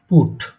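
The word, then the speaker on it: put: আর একটা শব্দ লিখি, এটার উচ্চারণটা কি হবে? পিউটি, পুট। দেখেন তো এইখানে এই যে ইউ লেটারটা, এটা কোন সাউন্ডের জন্য ব্যবহার করা হচ্ছে এখানে?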